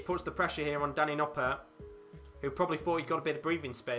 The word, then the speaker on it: Danny Noppert: game has completely turned Danny noart looking like the usual Danny noart that would expect it's technically Danny noer isn't it Danny noer is uh is how you pronounce it but yeah Danny noer